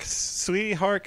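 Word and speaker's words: Tsui Hark: the director's name I'm not really no it's pronounced Rob Schneider okay no it's a Tsui heart sweet heart oh yeah yeah yeah like uh well-known well-known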